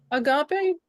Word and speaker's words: agape: for his children yes Agape is agape yeah yeah forgive me for not saying it right the first time but but you know